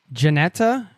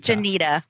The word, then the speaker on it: Jenita: And just so I'm pronouncing your name correctly, is it Janetta or Janita? Janita. Janita.